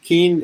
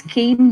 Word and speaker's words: Kean: Nidhi Thakur, Nidhi at Keene. Is it Keene University or Keene College? So, it is Kean University. It's written as Kean, but it's pronounced like a candy cane.